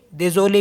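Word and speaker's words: désolé: तो यहाँ पे दोनों का प्रोनाउंसिएशन आएगा, लास्ट का जो ई है उसका भी और जो सेकंड में है उसका भी। तो दे जो ले मीन्स होता है सॉरी।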